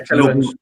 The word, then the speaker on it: Tielemans: Yeah, Tielemans.